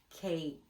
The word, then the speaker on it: cake: a sound into a but that means that the E is silent on the end so now we have a K what's missing K it's the letter K C cake c a cake good